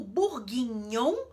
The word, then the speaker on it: bourguignon: tem um GN ali esse GN ele vai ter som de NH em francês como no italiano por